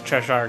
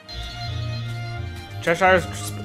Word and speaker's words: Cheshire: with 99 saves no cheshire is pronounced like treasure treasure the cheshire cat cheshire cat i don't know is that right i'm just gonna keep